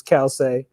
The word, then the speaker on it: Calcei: So people pronounce it all sorts of different ways, but it's Calcei, and that means shoes in Latin.